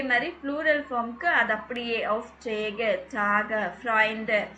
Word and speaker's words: Auftrag: அப்படின்னு சொல்லிட்டு நல்லா பார்த்துக்கோங்க டர் ஆஃப் சாக் கே தான் சொல்லுவோம் ஆஃப் சாக் அங்கே ஸ்பெல்லிங் என்னமோ ஜி தான் போட்டிருக்காங்க பட் நம்ம ப்ரொனவுன்ஸ் பண்ணுறது கே தான் ப்ரொனவுன்ஸ் பண்ணோம் ப்ளூரலுக்கு வரும்போது ஜி தான்